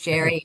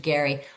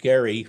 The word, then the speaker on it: Gerry: Elbridge Jerry, Elbridge Gary. What is it? Why do we worry about it? Well, back in 1812, Governor Elbridge Gerry, I'll pronounce it the way he did with a hard G, Archie.